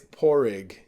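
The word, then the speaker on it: Pádraig: So yeah, I tell everyone with an American accent, it's opposite of a rich egg. It's a poor egg.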